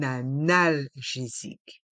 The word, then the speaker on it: analgésique: analgésique un comprimé effervescent dans le mot analgésique on fait la liaison avec le N de 1 et le a de analgésique un analgésique et le s est entre deux voyelles donc il se prononce the analgésique un comprimé effervescent